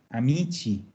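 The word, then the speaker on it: amici: al pasar la una y cambia la pronunciación porque el paso del sonido co al sonido sí entonces el plural d amico es a michi margarita quieres decir un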